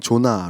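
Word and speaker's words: זונה: 등장하는 기색으로 번역된 말은 요 자 나 혹은 조나 로 발음되는 히브리어 인데 그 본래의 뜻이 기녀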